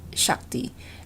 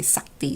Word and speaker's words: Shakti: You pronounce it Shakti, and for us, we say Sakti, so we just lost the sh.